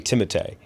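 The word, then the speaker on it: Timothée: So his name is technically Timotee and he has never allowed anybody in his life to pronounce it that way.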